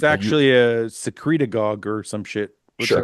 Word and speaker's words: secretagogue: Secretog, I think it's pronounced. Right. Secretagogue. Yeah. Yeah. Secretagogue. Yeah. What'd you call it? What'd you say, Paul? Secretagogue. Secretog. No, it's secretion like secretagogue.